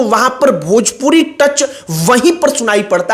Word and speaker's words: भोजपुरी: खेसारी लाल यादव आज तक भोजपुरी को भजपुरी कहते हैं, मतलब आज तक उन्होंने